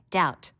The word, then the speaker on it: doubt: You should learn how to spell doubt. Notice the silent B.